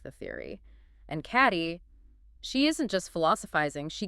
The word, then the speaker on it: Cady: It's Cady, pronounced K-D.